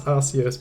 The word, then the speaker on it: Arceus: a different name uh Arceus or Arceus original correct oh there we go original pronunciation was RCS but they changed their tutorials reasons yeah I've always said